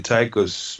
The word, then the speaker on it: Tycho: The TYCHOS model is I base it on the model that Tycho Brahe, or we pronounce it Tycho in Swedish.